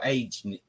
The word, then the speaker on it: Agene: Or acne or agene. I don't know how to pronounce this.